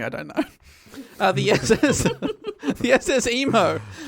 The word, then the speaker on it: Imo: The SS Emo. Sorry. Emo? Spelled IMO, but I have heard it pronounced emo.